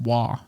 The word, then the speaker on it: Roy: ROY is spelled or is pronounced Wah in some places.